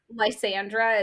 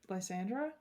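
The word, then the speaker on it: Lysandra: Landra is probably not how that's pronounced. Lzandra. Is that right? Yeah. Okay.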